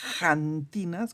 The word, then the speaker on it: xantinas: una cosa que son se llaman las janinas con x así se pronuncia acá en México por lo menos janinas no y